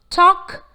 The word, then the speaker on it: talk: The letter L is silent in certain words such as talk, half, come, should, could, would.